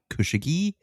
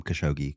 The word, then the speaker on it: Khashoggi: I've also heard it pronounced Khashoggi. I'm going to call him Khashoggi because it's the easiest for me to pronounce.